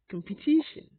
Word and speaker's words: competition: china today's word is competition competition competition and continuation now you will notice that i pronounced two ways competition and competition competition and continuation whichever way primary stress is on the third syllable so first level is